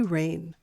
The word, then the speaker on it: rein: The children had free rein. That's R-E-I-N, but pronounced like rain.